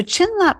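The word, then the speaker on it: བྱིན་རླབས: is what blessing means the Tibetan word for blessing is pronounced chlap and this can be broken down into two parts chin means magnificent potential and LP means to transform so chin Lop means transforming into magnificent potential therefore blessing refers to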